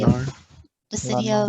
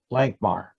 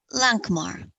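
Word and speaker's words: Lankhmar: If you would be happen to be porting near or around the city Langmar? of Lanamar. Lankmar. LANC. Hard C. MAR. Lankmar.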